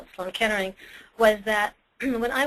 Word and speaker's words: Sloan Kettering: it and that was Sloan Kettering but because of my father's act he pronounced it like Sloane catering and so I had this